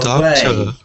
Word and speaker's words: doctor: doctor. away. No more? No more? Augment. Can we say doctor? Yeah, but doctor is stressed on the first syllable.